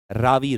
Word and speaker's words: Ravi: People call it Ravi sometimes. It is the correct pronunciation is Ravi River.